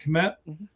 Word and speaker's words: Kmet: So he's essentially a third tight end with the Bears because they already have Loveland and Kmet, right? That's how you say it, Kmet?